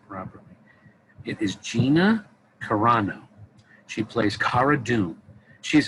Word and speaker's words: Gina Carano: want to say her name properly it is gina carano she plays cara doom she's a formal rebel